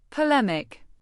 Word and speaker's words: polemic: Polemic. Pronounce it as polemic, rhyming with academic.